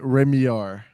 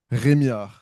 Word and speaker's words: Rémillard: Am I saying how do I pronounce Say your last name in in the French style. Uh, you could pronounce it. Remiar. Remiard. But how do you say it? Remar. Okay. That would be with the Canadian French accent.